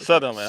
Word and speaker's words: Sutherland: Sutherland.